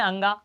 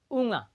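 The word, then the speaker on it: ङ: इसका कुछ कहते हैं अंगा। तो इसका सही है अंगा के रूप में, लेकिन इसका जो है सही उच्चारण है वो है क्या? ऊँगा। क्या है? ऊँगा।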